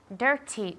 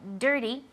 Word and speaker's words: dirty: Dirty. Yo diría dirty, porque las T's de entre medias no las pronunciamos, pero quiero que forcéis la pronunciación.